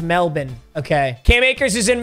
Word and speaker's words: Melbourne: that is not how you pronounce it it's pronounced Melbourne okay Cam acres is in Melbourne for five